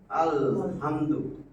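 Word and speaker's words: الحمد: হবে আমার এটা আলহামদু এই হা কমারি হরফ এইজন্য আলিফ লামের আল লাম উচ্চারণ হইছে বুঝছেন জিনিসটা লাম উচ্চারণটা হবে আলহামদু আল হামদু এই যে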